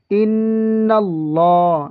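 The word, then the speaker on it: إِنَّ اللّٰهَ: লামটা মোটা হবে কেন আল্লাহ শব্দের লামের ডানে হরফে জবর অথবা পেশ থাকলে ওই আল্লাহ শব্দের লাম মোটা করে পড়তে হয় যেমন নুনের উপর কি আছে নুনের উপর আপনারা দেখতে পাচ্ছেন নুনের উপর জবর আছে এজন্য এই আল্লাহ শব্দের লামটা পুর করে পড়তে হবে যেমন ইন্নাল্লাহা ইন্নাল্লাহা এই ওয়াজিব গুন্না এই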